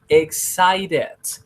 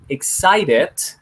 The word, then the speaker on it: excited: Podemos decirlo o podemos pronunciarlo excited and or in this case excited. Excited con T is good, is acceptable. And excited con R is good, is well acceptable.